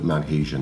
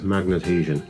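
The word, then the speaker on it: Magnadhesion: So we're going to have a look at maghesion now. This system was first developed for the TT range. It was correctly pronounced as magnethesion, and it found its way onto the 00 scale models in around 1962.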